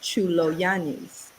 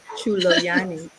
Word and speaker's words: Tsoulogiannis: My last name is Greek and it's pronounced Tsoulogiannis. Mm. All right. Yeah, Wait, say That's that one more sexy. time. Tsoulogiannis.